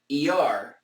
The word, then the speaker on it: Iyar: ER, I hope I'm saying that properly. ER, IR, not just, in English it's spelled IYAR, but I think it's pronounced ER.